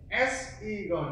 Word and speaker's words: sign: SIGN bắt đầu là gì? Đó là sign đúng không? Nên là gì? Nên là nhớ nhá. IGHT, IGN chúng ta vẫn đọc là sign.